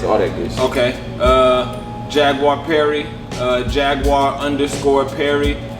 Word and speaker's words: Jaguar Perry: Jaguar Perry. Jaguar_Perry. It's spelled like it sounds, like the animal, JAGUARPERRY.